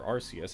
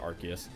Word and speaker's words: Arceus: legends arceus coming out or rcs however you pronounce it i pronounce it arceus um and that one